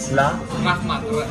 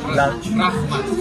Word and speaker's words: Rahmat: Rahmat. Rahmat.